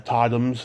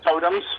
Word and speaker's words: Totems: on your website uh tottenham's is that how you pronounce it totems totems i tell them but i play on my name yeah i i like